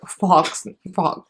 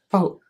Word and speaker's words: faux: This is 3D Mink Fox. What do you call it? Faux? How do you pronounce it, John? Faux? Not fox? Faux.